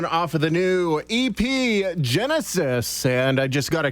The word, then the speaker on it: Genesys: Genesis, it's spelled Genesys, including the title track, which we've not heard yet, Old Sin, New Skin, and Rise Up.